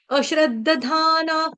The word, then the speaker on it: अश्रद्दधानाः: एक बारी सुन लो अश्र धाना यहां पर जो विसर्ग का उच्चारण है यह वाले विसर्ग का उच्चारण आधा फ करेंगे क्यों क्योंकि यहां पर प आ रहा है इसलिए ठीक है धर्मस्या परं तप तप